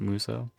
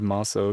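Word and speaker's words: Musou: I'm trying to remember to pronounce it Muso, because that's actually how you say it. I always said Maso growing up, but I think it's actually Muso.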